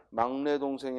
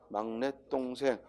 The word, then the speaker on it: 막냇동생: 143번 저희 막냇동생 이야 발음이 막내동생이 아니라구요 막냇동생 막내동생 아니라 막냇동생 다른 숍 받침을 적어야